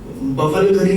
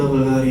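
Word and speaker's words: Bulgari: उसके बाद आपका बफलगरी नहीं होता, बल्गारी होता है।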